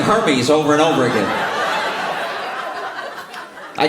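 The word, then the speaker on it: Hermès: Her meds. They're Yeah, they're men's. Hermes. It's pronounced Hermes.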